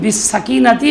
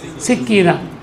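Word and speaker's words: السكينة: ওয়াল ফার আসলে আলাইকুম বিসসাকিনাতি ওয়াল ওয়াকার এটা হে পড়ছে আলাইকুম বিসসাকিনাতি ওয়াল ফার ওয়াকার রে ফার পড়ছে তো সিক্কিনা মানে ছুরি শব্দ লিখতে একরকমই উচ্চারণে দুই রকম হয়েছে সাকিনারে কইছে কি সিক্কিনা আসলে আলাইকুম বিসসাকিনাতি ওয়াল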